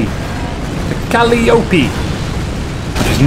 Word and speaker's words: Calliope: But it doesn't kill anyone because it's a Calliope. A Calliope. Which is not how you pronounce it, by the way. It's Calliope. Calliope is like Tony Hawk's skateboarder. You know, alley-oop.